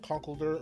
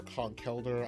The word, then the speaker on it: Conkeldurr: We have Conkeldurr or Conkledor. I like to swap between the two pronunciations.